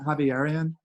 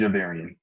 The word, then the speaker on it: Javarian: Is your name Javierian? Is that the right way to say No, it? it's Javarian. Javarian.